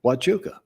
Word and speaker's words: Huachuca: in spanish yeah and they pronounce the word with a w watchuka because the first time